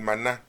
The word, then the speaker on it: maná: comer un tipo pan Maná quiere decir maná no se dice manón Qué quiere decir qué